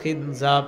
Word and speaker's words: খিনজাব: ডিস্টার্ব করে নবীজি বললেন যাকা শয়তান ইউকালু লাহু খিনজাব এটা একটা শয়তান তার নাম হলো খিনজাব বলেন